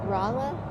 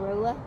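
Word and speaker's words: Rolla: their main location in rala which we used to call Rola but that's not the proper way to say it and they have the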